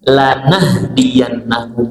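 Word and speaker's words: لنهدينهم: Lamnya pendek, lam tauhid, lam untuk penguatan.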